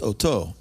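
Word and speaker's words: אותו: But it's aleph, tav, vav. And it's pronounced oto.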